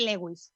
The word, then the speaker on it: Lewis: Realmente se o pronunciáramos como debemos sería Luis, é como de primar e primar, ¿no? Pois é o mismo, se o pronunciáramos correctamente.